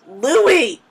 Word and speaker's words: Louis: And you're like, and I also occasionally, dream about, Louis or Luis. Louis!